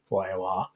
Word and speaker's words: Reyor: And now I've realised that reyor should have been rayor.